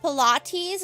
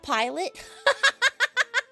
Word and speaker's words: Pilates: Wait, it's pronounced Pilates, not Oh, Pilates, not pilot.